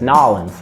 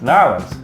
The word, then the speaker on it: New Orleans: Yeah, I was told that it's Nolans. Nolans. Yeah, and some people take offense to it if you say it wrong.